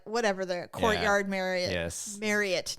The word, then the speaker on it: Marriott: not whatever the courtyard Marriott Marriott now that we know how to pronounce it. God. Okay. Wait. I was 50ish years old when I found this out. I have always said Marriott.